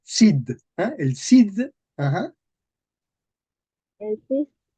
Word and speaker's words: Cid: nuevas, el, Nuevas, el cis, el cis, Cid. Vemos que aquí se dice Cid.